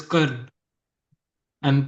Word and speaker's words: Karna: So, a particular person which name is Karn and pronounced as Karna.